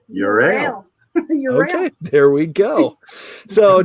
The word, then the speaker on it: Euryale: pronounce it another way how do you pronounce it we say our beer is your a okay there we go